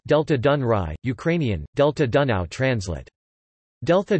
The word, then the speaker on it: Delta Dunării: The Danube Delta, Romanian, Delta Dunării, pronounced Delta Dunăre, Ukrainian, Delta Dunăre, translate Delta Dunaju, is the largest river delta in the European Union.